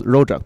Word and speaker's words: rojak: And we call ourselves rojak people because we are essentially just a mixture of everything. Wait, how do you pronounce that or how do you spell it?